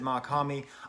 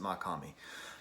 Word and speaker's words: Mach-Hommy: pray for haiti by mock homie homie mac hammy i've seen him pronounced a lot of different ways he pronounces it makami i will pronounce it makami now before i even